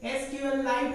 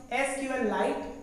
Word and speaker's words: SQLite: SQLite मतलब कि SQL पहले पढ़ते हैं, देन S और Q को हटा के वहाँ पर लाइट का प्रोनाउंस करेंगे, तो इसको बोलते हैं SQLite या SQLite।